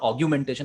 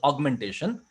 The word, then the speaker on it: augmentation: Fe on infrastructure augmentation people normally pronounce mispronounce this augmentation as augumentation it is not augumentation it is augmentation and what augmentation means